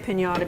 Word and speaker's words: empanada: But, I never made an empanada before. No, I've never done it either. Empanada. Empanada. Empanada. Yes. But I put an extra syllable in there. Yes, you That's a pretty good size.